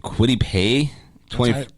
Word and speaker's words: Kwity Paye: Kwity Paye.